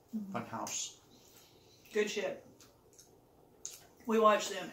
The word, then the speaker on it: Funhaus: Funhaus. So, like, spelled like German. Funhouse.